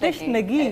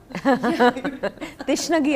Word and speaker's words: तिश्नगी: Tishnagi. Am I saying it right? Yeah. Tishnagi.